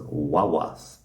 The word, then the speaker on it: guagua: And somehow, in the Canary Islands, they call their buses wawas. So that's definitely pronounced in the Canaries with a W sound.